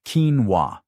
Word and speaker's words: quinoa: Pronounced quinoa, this South American seed provides about 8 g of complete protein per cooked cup.